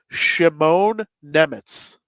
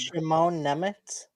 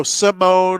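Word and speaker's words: Šimon Nemec: Yeah, and so Simone or Simone is like very the French or English way to like think of Simon or Simon, but it's very Slovakian to do the sh at the beginning.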